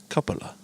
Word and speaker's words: cupola: me to LA or we could say it like cup and then Ola cupola and that I mean